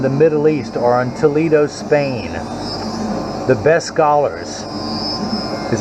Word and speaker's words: Toledo: So there's Toledo, Ohio, and as they pronounce it in Spain, Toledo, España.